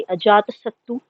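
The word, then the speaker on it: Ajatasattu: इन पर कुछ राजाओं के नाम हैं, जैसे कि अजात सत्तू, जो प्राकृत उसका प्रोनाउंसिएशन है अजात शत्रु का और अशोक अशोका का।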